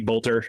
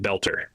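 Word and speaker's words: Boelter: Well, the first thing you should know, his last name is it looks like it's supposed to be Bolter, but he pronounces it belter.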